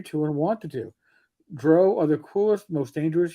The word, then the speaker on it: drow: Drow. I used to always say drow, and then Mike, you muted. It's 100% drow.